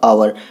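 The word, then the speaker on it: hour: मैं इसका प्रोनाउंसिएशन देखूं, अगर मैं इसे बोल कर देखूं तो क्या हो जाएगा आपका, ये हो जाएगा, इस तरीके से बोला जा रहा है, ये आपका आवर, ठीक है।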